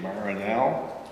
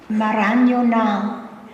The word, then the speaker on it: Mamaroneck: And this community that, shall we say, is, I'll try my pronunciation, Mamaroneck. Okay. Mamaroneck.